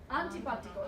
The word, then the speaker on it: antipático: Antipático is how you say that.